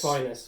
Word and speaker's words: vinous: It's vinous. You've got Is it it right vinous? first time, yeah. Like sinus. Vinous and sinus.